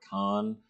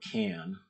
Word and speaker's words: Kahn: My buddy Robert Kahn. Robert Can. I've only recently learned I've been mispronouncing his name for 10 years.